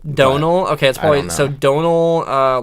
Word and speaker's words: Domhnall: say what I heard what I heard was Donal Donal okay that's fine so Donal like Oh Callahan no it's like go like